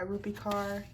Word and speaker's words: Rupi Kaur: I just heard The Sun, Her Flowers by Rupi Kaur. That's how you pronounce it.